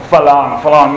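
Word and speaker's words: ฝรั่ง: They usually use anything with an R, they use as an L. Falong.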